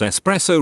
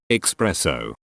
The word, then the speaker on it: espresso: it just really bothers me when people pronounce espresso wrong yes to make something plural i see what you did there op take my upvote to unto there and there expresso i saw an actual cuban cafe spell it this way once when people tell me